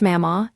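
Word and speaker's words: Mamaw: Home was with his grandparents, Mama, pronounced Mama, and Papa, Bonnie Blanton and Jim Vance in Jackson, Kentucky, in the heart of Kentucky coal country.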